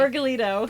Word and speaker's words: Vergallito: I always say your name wrong. You say your last name for me. Vergallito.